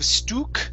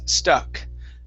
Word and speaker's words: stuck: right let's go to the word stuck instead of stooq stuck out it's stuck stuck out okay very nice